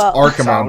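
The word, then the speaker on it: Archimonde: I know it's Archimond, but we're calling him Archie.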